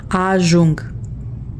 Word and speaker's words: ajung: Ajung. The U is pronounced U in Romanian. We went over this in the alphabet. The J makes the Z sound, so it's just ajung, arrive.